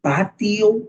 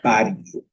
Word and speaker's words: patio: You can say patio or you can say patio. La T puede sonar de ambas formas.